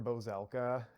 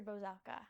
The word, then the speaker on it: Bozelka: Bozelka. Okay. If you want to say, that's fine. Dr. Okay. Bozelka is like how you phonetically say it. Dr. Bozelka.